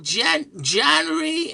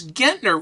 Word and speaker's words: Gentner: And uh so this one person called and he says uh what do you speak to Jen Janry? And she says it's Gentner.